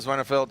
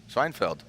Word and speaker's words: Schweinfeld: Reese Marin, Vernon Zwenefeld, and then Brian Eggert. So Vernon Z joining us, a newcomer to Zwenefeld. How do you say it, Vern? Say it. How? Schweinfeld. Schweinfeld.